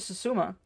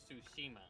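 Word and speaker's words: Tsushima: Looks like Ghost of Suzuma. I totally butchered that one. I believe it's pronounced Sushima. It is Sushima.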